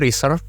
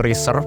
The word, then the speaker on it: reserve: Nah, The consonant is voiced, which means you vibrate your vocal cords for it. If you don't, it will sound like instead. ya. Jadi gue bilangnya tuh dia reserve.